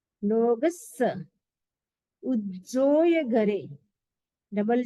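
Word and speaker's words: लोगस्स: लोगस, double स है तो जोर लगेगा। लोगस, लोगस।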